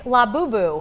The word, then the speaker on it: Labubu: Caitlin, you want to kick us off here with, I don't even know how You to pronounce it, it's Labubu. Okay, Labubu.